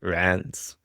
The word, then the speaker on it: Reims: People say it's always supposed to be like rancid without the id. Rance.